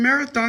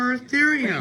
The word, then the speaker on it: Moeritherium: And I'm saying marathon instead of but Moeritherium. he seems pretty draws up.